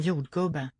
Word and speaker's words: jordgubbe: So there too is an upstep to syllable 2.